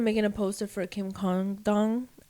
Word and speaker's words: Congdon: So I ended up making a poster for Kim CONGDON. I hate saying her name. I have to say the G. CONGDON.